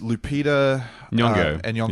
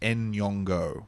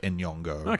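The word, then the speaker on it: Nyong'o: one last thing I wanted to mention was Lup yongo yeah oh and I saw something the other day it's meant to be pronounced en yongo oh really so we can do that correctly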